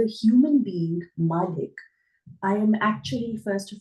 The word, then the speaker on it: Malik: but actually hna sorry the pronunciation is Malik Malik okay so um thank